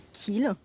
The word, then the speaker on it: Kiel: Nous sommes début octobre et je suis en Allemagne, à Kiel, ou Kiel si on prononce à la française.